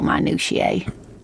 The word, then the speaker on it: minutiae: bore you with entomological minutiae i've never heard it pronounced that way manushaye minutier i would just say minutia hmm anyway the lieutenant